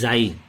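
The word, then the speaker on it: χ: तो ना तो ये काई है, ना ये ची है, ना ये छी है, ना ये चाय, ना ये चाहिए। इट इज जाई, इट्स प्रोनाउंसिएशन इज जाई, जाई है ये।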